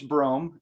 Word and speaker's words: Brom: My first name's Brom. It's spelled Brom, but it's a long O, like the city Rome with a B.